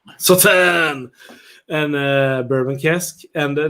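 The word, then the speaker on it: Sauternes: Am I pronouncing it right again? No. Sautern!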